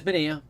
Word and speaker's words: Manaea: And it is Manaea. People like to pronounce it Manaea. That is not correct. A-E-A is Ea in Spanish.